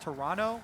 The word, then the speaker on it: Toronto: prepare to head to Toronto I was told actually by a tweet it's pronounced Toronto with no uh no t oh yeah today I